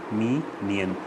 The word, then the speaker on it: minion: is not your servant pronunciation is me me and me nyan there is a emphasis on the word me aww so how do